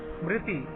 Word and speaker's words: स्मृति: The letter are एज इन स्मृति मे बी रफली pronounced as री, RI। अब देख सकते हैं आर के बाद यहाँ पे आई नहीं है, लेकिन फिर भी हम क्या बोल रहे हैं, स्मृति बोल रहे हैं। जो आर के नीचे लगा हुआ है कॉमा टाइप का, उसको हमको RI प्रोनाउंस करना है। तो क्या हो जाएगा, स्मृति, but keeping the आई as brief as possible.